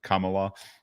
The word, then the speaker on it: Kamala: Kamala should be all for this, or how do you say it? Kamala? Yeah, Kamala.